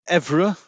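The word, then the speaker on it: Évreux: Evreux, I would say Evra Evreux.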